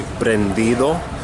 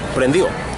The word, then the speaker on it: prendido: That is the best way to say it. The correct way would be prendido, but who wants to go through all that pronouncing every syllable when you can just say prendi'o, right?